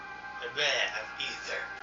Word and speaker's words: Aether: You remove the A and it's Ether.